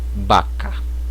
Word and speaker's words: vaca: A pronúncia será equivalente à letra B.